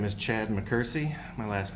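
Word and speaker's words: McKersie: Uh, my name is Chad Mccersie. My last name is spelled M C K E R S I E.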